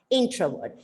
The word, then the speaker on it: introvert: called introvert introvert exactly the syllable stress is on the first part introvert and a person with